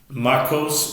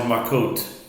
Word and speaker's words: Makos: Makos or Makot, either one, depending on how you're pronouncing, depending on your pronunciation.